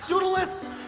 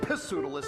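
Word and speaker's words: Pseudolus: Sudalis. Yes, Hysterio. Silus, pronounced perfectly. You know, a lot of people say pissilous, and I really hate that.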